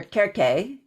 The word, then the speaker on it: Circe: There was also the popularity of the Odyssey, which is very, very old, in which Circe, or Kerke, for a more Greek style pronunciation, that she was deeply involved with Hecate as well.